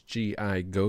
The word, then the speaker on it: Gigo: It is G.I. Go. You put it together, and it is pronounced Gigo.